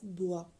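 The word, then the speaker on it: bror: brother in Danish it can be vocalized as bua b r o r bua next word is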